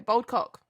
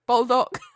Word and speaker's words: Baldock: Bold cock. Oh shit! No. That's Bulldog. bull. Bulldog. Bulldog. Can you I spell it?